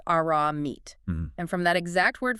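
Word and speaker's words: ארמית: Yes, the text uses the term Aramaic, pronounced Aramite.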